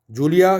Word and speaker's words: Julia: Julia, क्योंकि J से है तो it will be pronounced as ख.